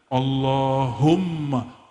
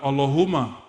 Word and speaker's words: Allahumma: situ ada mimnya Allahumma Gimana cara bacanya Allahumma bukan Allahuma allahum dia mesti ditasdidkan Allahumma ya dan dia